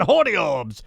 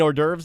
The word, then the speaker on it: hors d'oeuvres: there's a fancy party they got holy orbs you mean hors d'oeuvres dad sure audio ups yeah he couldn't say the word hors d'oeuvres well it is spelled